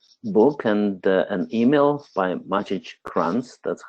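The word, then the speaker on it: Maciej Kranz: chanced upon this book and an email by magic grunts that's how you pronounce the name who is one of the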